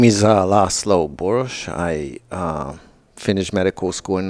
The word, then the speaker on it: Boros: burrows but when you pronounce it in your native tongue it's more like boorish boorish is the Hungarian pronunciation and but he called